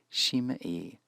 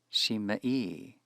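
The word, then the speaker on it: שִׁמְעִי: Two adjacent vocal shavas produce in Hebrew a hirik in the first. That may explain why we find shimei as the appropriate feminine singular imperative, with the hirik in the first syllable.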